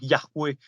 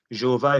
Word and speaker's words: Jéhovah: En hébreu, ça donnerait plutôt Yahweh. Jéhovah, effectivement, ça, c'est pas une bonne prononciation, c'est manifestement une erreur, ce qui ferait les témoins d'une erreur.